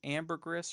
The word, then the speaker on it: ambergris: It's a silent S.